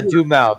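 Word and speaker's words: Duhamel: fergie it's that oh josh jamelle yeah yeah do mouth there you go that's how you say it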